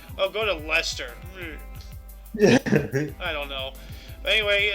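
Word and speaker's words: Leicester: how they pronounce it Lester yeah like similar with mustache sauce Lester yeah it's it's written like that but it's called Lester that's a weird name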